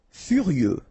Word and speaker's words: furieux: Furieux, okay, final X not pronounced.